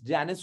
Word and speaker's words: Janus: but then in that movie they're calling him janice so i looked it up i was very i was like i've been calling it wrong but it's not it's janus only that there are different pronunciations in latin